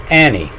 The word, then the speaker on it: Agnes: name for 400 years it's medieval pronunciation was Annie like I tell you a g following a a reads the n and this is how